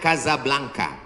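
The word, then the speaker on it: Casablanca: Ibu kotanya tulisannya Casa Belanca. Cara bacanya Kazablanka.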